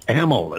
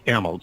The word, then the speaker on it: Ameln: A-M is in Michael, E-L-N as in Nancy, pronounced Ameln. It's Ameln, C-A-L-L-E, A-M-E-L-N.